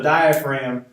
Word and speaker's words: diaphragm: a dome shape and this is spells right daya from the beginning their silent G like Jay no hookup will not G yet to be started go so the diaphragm is it is innervated